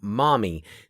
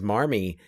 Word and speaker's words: Marmee: There was no formal spelling, but in New England, where they probably pronounced it mommy. Yeah. Mommy. Alcott, I think, assumed that there was an R in there. And I mean, this doesn't seem like it was a big mystery, but it seems like that's just kind of been a decision to pronounce it as Marmee in all of the many versions.